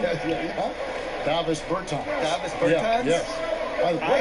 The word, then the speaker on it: Davis Bertans: Oh, now, at this point in my life, it's Davis Bertans. Is that how you say his name? Yeah. Davis Bertans.